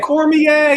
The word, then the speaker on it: Cormier: Cormier is the pronunciation.